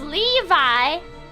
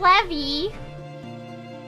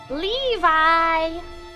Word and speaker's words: Levi: I have to remember it's pronounced Levi, not Levy, not Marvel's, not Levy from the Marvel. Levi.